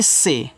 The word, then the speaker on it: say: SAY इसको पढ़ते हैं से, ऐसे से। अगर किसी के बाद AY है तो वहाँ AY का उच्चारण एक ही मात्रा के रूप में।